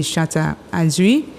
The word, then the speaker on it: Shatta Adri: Mon nom d'artiste c'est Chata Adri. Oh, Chata Adri. Bon, mon cas prononcé comme Chata Adri, mais les gens ici prononcent Adri.